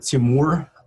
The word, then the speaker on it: Timur: All right, Timur, did I say it right? Yes, it's pretty close. It's Timur.